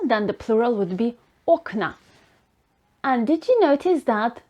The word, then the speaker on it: окна: So instead of окно, which is the stressing the ending of the word, now in the plural form of this word, the stress is on the base of the word. It's окна. If a neutrum noun ends